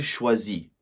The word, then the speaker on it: choisit: For he, she, and one, so il, elle, on would be the pronoun, the ending sounds exactly the same as the first two, but it's IT. So, that would be il choisit.